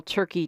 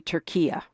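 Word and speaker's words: Türkiye: Horne, before we move on to my other long list of questions, explain why you call Turkey Turkia. Well, I'm trying to call this nation what it calls itself.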